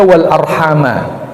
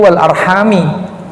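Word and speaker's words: والأرحام: untuk kata Wal Arham ini bisa kita baca Wal arhama dalam Quran yang ada yang beredar di tengah-tengah kita dibaca Wal Arham ini adalah qiroahnya jumhur namanya qiroahnya mayoritas ahli qiroah cara bacanya mayoritas ahli Nanti kalau kita wakafkan ya tidak kelihatan kalau kita tidak wakafkan kelihatan sementara itu Imam Hamzah membacanya jer yaitu Wal arrahmi Apakah maknanya beda tentu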